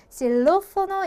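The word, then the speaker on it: xilófono: 얘는 또 시옷 발음처럼 실로포노 이렇게 발음을 하게 된다.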